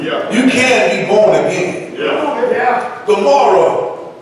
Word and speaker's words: Gomorrah: Gomorrah, the other city that's spoken about in the Hebrew tongue, is called Amorah. The Greek pronounces Gomorrah, meaning submersion, and which